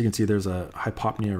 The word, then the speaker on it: hypopnea: an example of a high pop Nia now some people have actually heard it pronounced at hypopnea which I guess is actually technically right but it just sounds dumb so anyway this is